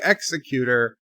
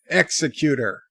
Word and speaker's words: Executor: Wesley's Berta pray say executor the American Way just to upset the Europeans executor it sounds like execute her but execute her now I'm really confused